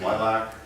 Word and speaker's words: LLILC: our site up there we pronounce it as lilac and like for the